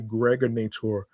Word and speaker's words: Gregonator: This is your man and homie, G Money Stacks, aka the Gregonator, rhymes with Narrator.